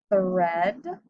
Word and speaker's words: thread: Same with lead, thread, bread, and breath. In all of those words, we would normally hear a long E sound because of our rule, but in these words, we have a short E sound.